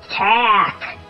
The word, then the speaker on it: tack: It's a four-letter word, but with only three sounds. Remember, the K sound at the end is spelled with two letters.